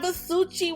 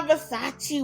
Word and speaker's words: Versace: Oh, look at my Versuchi watch. Let me say it right. Oh, look at my Versace watch.